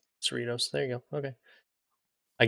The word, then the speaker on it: Cerritos: gonna have to help me out with the pronunciation rich uh for the goal scorer yes oh Ronald Cerritos Cerritos there you go okay I get in three